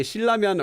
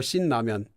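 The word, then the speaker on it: 신라면: You can say Shilramyeon or Shin-Ramyeon. I've heard both. I hear Shin-Ramyeon more, but I think correctly it's supposed to be Shilramyeon.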